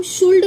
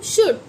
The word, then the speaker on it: should: अब ये SHOULD, इसे हम शुल्ड नहीं पढ़ते हैं, इसे पढ़ते हैं हम शुड।